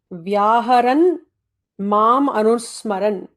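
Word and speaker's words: व्याहरन् माम् अनुस्मरन्: Vyaharan Mam Anusmaran. So there are 3 words there, but all of those should be pronounced together, not to break them in between.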